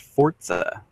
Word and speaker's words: Forza: And apparently, according to the presentation, it's pronounced Forza.